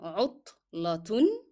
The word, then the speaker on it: عطلة: Here ta is a hard sound, and te will be pronounced as t with the sound of tanween with dhamma, because in reading I connected both words together. عطلة أسبوعية. Since I'm not stopping, then I will be pronouncing te as t, and I will be pronouncing the sound of tanween with dhamma. So it will be عطلة.